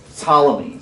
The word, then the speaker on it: Ptolemies: And then another group in Egypt, and they are known as the Ptolemies. So the P is silent on Ptolemies, but turn to your neighbor and say Egypt.